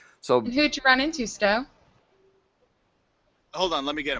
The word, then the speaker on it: Stowe: And is it Stowe? Is that how you pronounce it? Yeah.